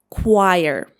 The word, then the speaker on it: choir: How do you pronounce it? It is choir.